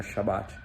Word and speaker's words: Shabat: verdade eles fazem o o Shabat que essa a pronúncia correta né Shabat Shabat não você acha que o T mudo e eles passam o